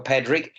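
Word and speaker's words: Pádraic: As in Patrick with a D.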